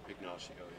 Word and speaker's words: Ignacio: Ignacio, yeah.